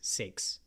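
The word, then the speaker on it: seax: so Saxon is from CX s-eax six I think is how it's pronounced it's not from anything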